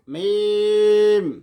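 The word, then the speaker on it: ميم: সহজ আছে সহজ আছে তাহলে মিমের মাখরাজ দুই ঠোঁটের শুকনো জায়গা থেকে উচ্চারণ করতে হয় দুই ঠোঁটের শুকনো জায়গা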